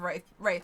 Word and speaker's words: Wraith: Wraith was pronounced without the I, not like Wrath the Sin.